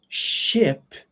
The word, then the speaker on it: ship: big boat isn't it now remember ship the pronunciation would be like hit and sheep would be like heat it's the same sound okay now let's go